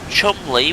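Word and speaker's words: Cholmondeley: once today which is spelt constantin why um chumley which is pronounced sorry which is spelled chalmunderly how does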